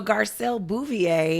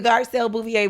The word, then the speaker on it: Garcelle Beauvais: Yeah, so Garcelle Beauvais. I did not know that's how you pronounce her name.